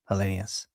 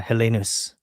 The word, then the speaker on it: Helenius: They've always been Helenius, not Helenus, you know.